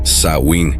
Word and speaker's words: Samhain: de 2000 anos atrás conhecida como samhain pronunciada sain no galês original o samhain Durava TRS